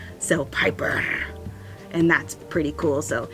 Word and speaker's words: Piper: So I did talk to Piper and she said, why don't you roll your R's? And I was like, okay, I'll give it a try. So Piper, and that's pretty cool.